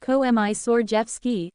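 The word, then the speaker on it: Komisarjevsky: were a mismatched pair Mr commer Jeffy pronounced COI sord Jeff ski as tall and thin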